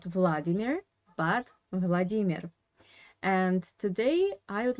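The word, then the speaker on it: Владимир: And I would like to start from the name that in English you pronounce as Vladimir.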